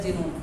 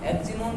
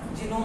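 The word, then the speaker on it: Xenon: क्या इसका प्रोनाउंसिएशन कुछ ऐसे रहता है जीनोन, एक्जिनोन नहीं होता है, एक्जिनोन नहीं होता, जीनोन होता है, ठीक है, जीनोन जीनोन।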